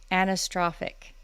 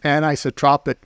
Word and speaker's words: anisotropic: to be talking about here I go anastrophic did I say it right uh no it's anisotropic properties and isotropic properties so